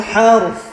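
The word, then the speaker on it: الحرث: Kalau waqaf di situ wala tasqil harth.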